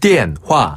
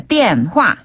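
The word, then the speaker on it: 电话: 그다음에 电话 는 전화의 중국식 발음이에요. 电话. 한 번 더. 电话.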